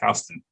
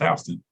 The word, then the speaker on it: Houston: spelling Houston was now pronounced that way it's pronounced Houston so that's like a that's a funny uh